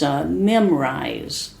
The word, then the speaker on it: Memrise: just explore it, and it's spelled Memrise, right? It sounds kind of like the word to memorize, but they spelled it differently, Memrise.